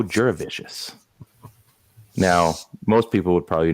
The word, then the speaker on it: Jurevicius: for it he's uh so delicious and it rhymes with that Joe jurevicius now most people would